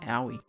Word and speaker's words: Aoi: Because she said the way she remembered it's Yowie. So Yowie, Aoi. That's how you pronounce it. Aoi.